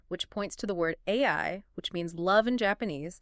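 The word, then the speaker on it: 愛: The Japanese kanji for love is pronounced AI.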